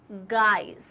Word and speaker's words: guise: It's guys. Guys, इसका pronunciation same ऐसे होता है guys, ये होता है guys है ना, और ये होता है guys. G-U-I-S-E is guys. So z का sound आएगा, okay?